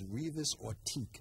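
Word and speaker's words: Revius Ortique: I'm just happy to ask you, who is Revis Ortique? Or did I say his name incorrectly? You said it just correctly.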